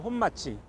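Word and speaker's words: 本町: 그래서 일본 애들이이 진곡의 길에 주로 이제 자리를 잡으면서 어 자기들이 여기다 본정이라는 이름을 붙여요. 거리 이름을. 일본 발음으로 혼마지.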